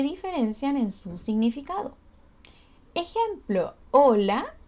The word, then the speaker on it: hola: Ejemplo, hola y hola. Ambos se pronuncian igual porque la H es mudita, ¿cierto? No la vamos a pronunciar.